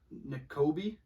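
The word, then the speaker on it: Nakobe: N'Kobe Dean?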